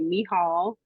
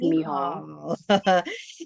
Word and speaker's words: Michal: Okay, my full name is I'm gonna say the actual pronunciation of it when I say it. So it's actually Michal. So that is how you say my first name is Michal.